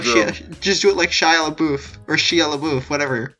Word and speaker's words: Shia LaBeouf: Just do it like Shia LaBeouf, or Shia LaBeouf, whatever. It's Shia LaBeouf, for fuck's sake, Ramon. Here's the thing, right? I know it's like that, but I'm saying it wrong on purpose now, just to spite people.